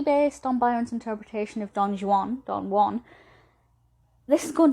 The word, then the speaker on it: Don Juan: pronounce it don juan byron's poem don juan is pronounced the way that i've just said it it's a little bit of buyer and humor and you know he that's intentional he's kind of making fun of english pronunciations of non-english words there's a whole analysis into